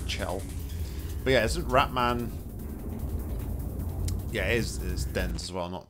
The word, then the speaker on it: Chell: I just want to say Shell because of, it's how you would pronounce the name Michelle, spelled the same, but I've been picked up many a time for saying Shell, I need to say Chell.